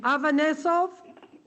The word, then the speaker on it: Avanesov: Yes, Avanesov. How do you say the last name? Avanesov? Yes, you said it correctly.